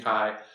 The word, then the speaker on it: CHI: So this is ACM, annual SIG Chi conference on computer-human interaction, CHI, pronounced like the Greek letter Chi.